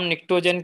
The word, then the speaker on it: pnictogen: जल्दी जल्दी बच्चों, इसका नाम निक्टोजन क्यों पड़ा है? सो निक्टोजन का स्पेलिंग अगर आप देखें तो PNICTOGEN से है, निक्टोजन।